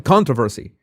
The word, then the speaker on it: controversy: American controversy. American controversy. Okay. Sha Sheila ate. She shilate. Uh, controversy. Okay. Controversy. Controversy. Controversy. Controversy. Stress on the first syllable.